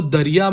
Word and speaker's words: दरिया: बट मैंने बोला again उच्चारण क्या है, दरिया।